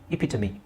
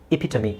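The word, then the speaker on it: epitome: ಹೇಳ್ತಾರೆ ಎಪಿಟಮ್ ಅಂತ ಹೇಳ್ತಾರೆ ಬಟ್ the actual pronunciation is ಎಪಿಟಮಿ ಎಪಿಟಮಿ ಅದು ಯಾಕೆ ಹಂಗಿದೆ ಅದಕ್ಕೆ ನನ್ನ ಹತ್ರ ಉತ್ತರ ಇಲ್ಲ ಬಟ್ ಅದು ಹಂಗೆ ಪ್ರೊನೌನ್ಸ್ ಮಾಡ್ತಾರೆ ಅನ್ನೋದನ್ನ ನಾನು ಹೇಳಬಲ್ಲೆ ಓಕೆ ಸೊ ಇಪಿಟಮಿ ಎಪಿಟಮಿ ಇದರ ಸರಿಯಾದ ಉಚ್ಚಾರಣೆ ಏನು ಅದೇನೆ ಇಲ್ಲಿ ಈ ಸಿಂಬಲ್ಸ್ ಅನ್ನ ಕಲಿತರೆ ನೀವು ಕಂಪ್ಲೀಟ್ ಆಗಿ ಇಂಗ್ಲಿಷ್ ಅನ್ನ ಪ್ರೊನೌನ್ಸ್ ಮಾಡಬಹುದು ಇಪ್ ಇಟ್ ಅ ಮ್ ಇಪಿಟಮಿ okay next ಇದು ಹೆಂಗೆ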